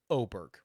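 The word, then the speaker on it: Åberg: he told me uh based on the English dialect the acceptable English pronunciation would be o Berg like oh my God Burke fair enough I can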